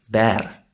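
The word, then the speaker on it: Bär: Okay, in German, it's gonna be pronounced bear, bear. Okay, so we will have to learn that this letter is actually representing the sound ä.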